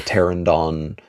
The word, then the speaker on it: Pteranodon: to the as Demi would call it, the Pteranodon flyers.